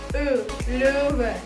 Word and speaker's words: Löwe: E, Löwe. Nah, kalian di depan kaca nanti masing-masing latihkan. Bibirnya udah bener belum? Rahangnya udah bener belum? E, ya. Jadi huruf O umlaut itu dibacanya E. Der Löwe.